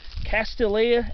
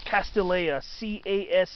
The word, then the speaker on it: Castilleja: It's one of several species of Castilleja, Castilleja, sometimes Castilleia, but it's usually spelled with a J. Castilleja, usually the J is pronounced as a Y sound.